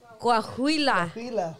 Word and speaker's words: Coahuila: Coahuila.